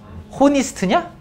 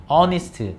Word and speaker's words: honest: 호니스트냐? 아니죠? 내가 지금 왜 시켜봤냐면 H 무음이야. 발음 안 한다고. 몰랐어? 그래서 honest잖아. honest. 호니스트가 아니고, 그지? H 없다고 생각해.